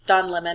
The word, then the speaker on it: Don Lemon: everything um once again it is don lemon and we know that's how he says his name because we've heard him say his own name and tucker doesn't say it right it's a way of